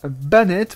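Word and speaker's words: Banette: à marionnettes et pour son nom anglais ban est prononcée bien la française il vient de bayne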